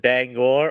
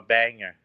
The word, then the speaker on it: Bangor: Some people pronounce it Bangor or Banger.